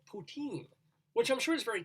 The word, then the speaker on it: poutine: um it sounds like the word poutine sounds like putin p-u-t-i-m right and they